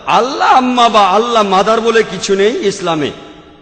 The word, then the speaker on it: আল্লাহ: যে ভাই স্কফিল্ড একমত উচ্চারণের কিছুটা পার্থক্য তারা বলে আলা আমরা বলি আল্লাহ উচ্চারণ কিছুটা আলাদা তবে শব্দ দুটো একই